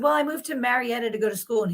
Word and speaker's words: Marietta: You say it like it has an A in it. And I was spelling it out in my head, and he said mayorette.